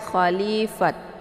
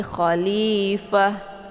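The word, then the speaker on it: خليفة: khalifah Jadi kalau misalkan disukunkan dia berubah menjadi huruf H ya jadi jangan dibaca khalifah ya tapi khalifah ya kemudian muqa dibaca panjang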